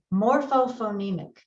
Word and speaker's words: morphophonemic: word apart by syllables more foe foe me Mick morphophonemic now I'm going to break this word apart in a different way Morpho phoneme ick I've broken that word